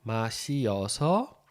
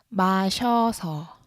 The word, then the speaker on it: 마셔서: Só que em vez de ficar 마시어서, vai ficar 마셔서. 마셔서, ok? Então, o mesmo caso das anteriores, né? 와서, a gente junta numa sílaba só.